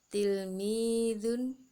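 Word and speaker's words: تلميذ: Tilmidun.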